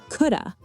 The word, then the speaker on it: could have: Native speakers say coulda, coulda been.